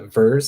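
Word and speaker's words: VIIRS: is is from nasa they're uh vers i think i'm pronouncing it v-i-i-r-s um where they actually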